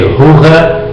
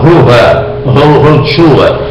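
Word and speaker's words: רוח: E o Espírito Santo tem a mesma fonética, que vem de Ruha, gutural, Ruha, o Espírito Santo.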